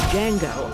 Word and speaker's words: Django: And yet, here they are, facing off in one of the most daring movies of the year, Django Unchained. What's your name? Django. The D is silent.